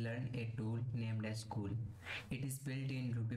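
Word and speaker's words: CeWL: new nice cool but the spelling of this tool is t-e-w-l we pronunciate it as cool let's search for a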